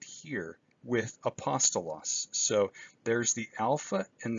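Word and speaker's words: ἀπόστολος: in you pear crema the smooth breathing mark is silent it's not pronounced and that's what we have right here with apostolos so there's the Alpha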